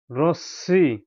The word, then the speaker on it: রশ্মি: র এ হচ্ছে র, রসিকার, তালব্য স, ম ফলা, রশ্মি। আপনারা উচ্চারণ করবেন বন্ধুরা, রশ্মি, রশ্মি।